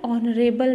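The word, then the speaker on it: honourable: next, I मेट एन ऑनरेबल मैन, आई मेट एन ऑनरेबल मैन एन आर एगो, दोनों एच हैं लेकिन दोनों के एच साइलेंट हैं, वोवेल साउंड आ रहा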